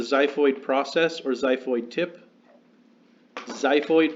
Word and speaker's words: xiphoid: process or xiphoid tip xiphoid pronounced with a z spelled with an X considered part of your